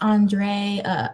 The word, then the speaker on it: Andre: Thanks is pronounced Andre. Okay, so I said it right at first.